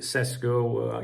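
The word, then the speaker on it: Šeško: some people pronounce it cesco you know me Jack Daniels John Smith I a't got a clue but I think in his native language it's pronounced like that all right guys take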